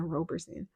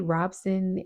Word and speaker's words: Robson: Because I do believe that Robinson, I know I was saying his name wrong. I was saying Roberson. Wade Robson and Safe Chuck, they are trying to sue Michael Jackson's estate.